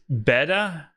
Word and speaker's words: betta: says speaking of pronunciation it's betta not beta beta not Bayer betta fish betta fish we say betta fish right because I thought beta